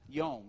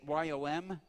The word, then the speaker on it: Yom: The first one, Yom Ha'atzmaut, and it is pronounced Yom. You see it Y-O-M. Anybody here who says Yom? That's a word that means sea. Like you swim in the sea, or you jump in the sea, right? It's Yom. They should put an E at the end or a long marker over it. It's pronounced Yom in Hebrew.